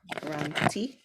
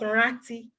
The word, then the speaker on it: ranti: Remember is roti, Ranti. not ran. It's not rati.